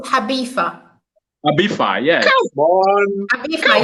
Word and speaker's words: Ibiza: No, the pronunciation is Habifa. Abifa, yes. Come on. Abifa, yes. Don't say Ibiza.